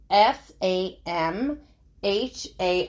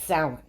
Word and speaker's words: Samhain: back centuries most point to S okay it is spelled s a m h a i n so it looks like Sam ha but it's pronounced Sal okay it's a Celtic Festival which commemorated the